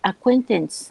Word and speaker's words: acquaintance: very good acquaintance acquaintance you know how to say the verb play right yeah so it's the same sound when you say play you also say acquaint very good that's it